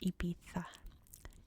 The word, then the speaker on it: Ibiza: to correct me, that in Spain this is pronounced Ibiza. These are pronounced as a TH, Ibiza. But I'm trying to just stick to English pronunciations here, and in English we say Ibiza.